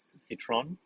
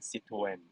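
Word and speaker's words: Citroën: driving uh okay it's a french car the pronunciation the local production is citron but uh if we are talking to french they are calling it c2n so that's the that's the pronunciation and by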